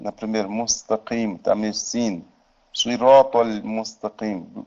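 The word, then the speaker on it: صِرَاطَ الْمُسْتَقِيمَ: Буква шад губы делай круглыми, а при букве син чуть-чуть как улыбаешься. Вот разница в произношении. Но язык не выходит за зубы.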